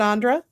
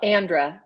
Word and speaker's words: Andrea: sure and thank you Andre and then um am I pronouncing your name right is it Andre yes it's uh well Andra like Sandra without the S yeah so I'm Andrea